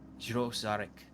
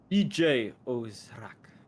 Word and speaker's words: Djo Zharik: The D is silent. EJ Ozrak.